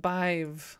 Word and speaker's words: Badb: Irish mythology. Pronounced Bive.